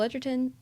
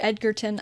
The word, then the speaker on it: Edgerton: And Joel Edgerton, underrated actor. Yeah, he's really good in it. He's great. He's great. And Edgerton or Edgerton?